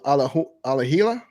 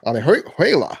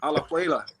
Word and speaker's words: Alajuela: He says, did you all go to Alahila? I think that's how you say it. Alajuela. Alajuela. Say it correctly. Alajuela.